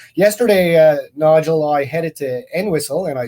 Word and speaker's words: Entwistle: And yesterday, Nigel, I headed to Entwistle, and I said it right because a townsperson taught me how to say it.